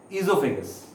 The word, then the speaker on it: esophagus: also called as esophagus o is silent right you must pronounce it as esophagus o is kept silent so by peristaltic movement